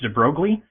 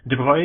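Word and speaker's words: de Broglie: I always thought his name was pronounced Deb Brogley, but it's well, he's French, so there's all sorts of weird pronunciations in French. Droy is my best guess at how it would probably be pronounced.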